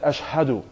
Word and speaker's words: أَشْهَدُ: No, brother, you say it like ashhadu.